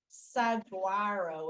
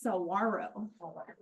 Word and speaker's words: saguaro: Giant, well, it looks like saguaro with a G, but it's actually a Spanish word, so it's pronounced saguaro.